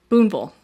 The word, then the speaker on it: Boonville: in the tiny town of boonville nope boonville everything in kentucky that says vil is pronounced vol okay donald's mother goldie